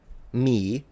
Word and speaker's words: mihi: Either you completely mute the H and you say nil, me.